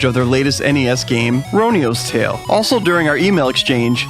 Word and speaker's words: Roniu's Tale: podcast chat james confirmed the game name is pronounced ronio's tale we're here to talk about ronio's tale a